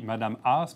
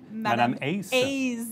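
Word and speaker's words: Madame A's: de bilinguisme mais bon ça se dit Madame as mais vous vouliez que ça se prononce aussi madame Ace exactement comme si ça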